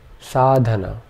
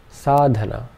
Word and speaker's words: sadhana: one last example sadhana all three vowel sounds in this are short so our three syllables